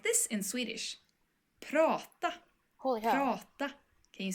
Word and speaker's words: prata: Prata. Prata. Very good. So this is a little bit longer, but you recognize 2 sounds here. The first one is the long A sound, and it's pronounced like like prata.